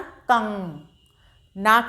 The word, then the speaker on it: कंगन: कंगन, जैसे कंगन बोलते हैं ना, का से कंग से कंगन हुआ, तो कंगन में नाक से उच्चारण किया गया है, का के ऊपर अंक की बिंदी लगी होने की वजह से।